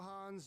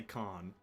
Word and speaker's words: Khan: Why are they saying Han when they could just say Khan? And Khan is the correct way to say it. I'm pretty sure Khan is. Why did they cut out the K? The K is not meant to be silent, I'm pretty sure.